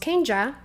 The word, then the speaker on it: Kenya: And my mom seeing that, she's like, "Okay, it's pronounced Kenja because in Mexico that's right, right?"